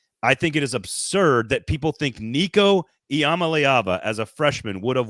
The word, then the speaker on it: Nico Iamaleava: Did I say his name wrong? I don't think so. I think you nailed it. Nico Iamaleava. Now I screwed it up. Nico Iamaleava.